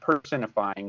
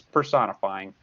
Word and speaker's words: personifying: pronounce it is not personifying it's personifying but emphasizing that because I want to emphasize the word person so remember in personification